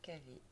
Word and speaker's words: KV: Alors que lorsqu'on prononce la lettre K et la lettre V, on prononce KV.